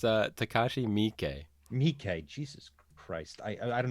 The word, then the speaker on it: Takashi Miike: Sure, it's Takashi Miike.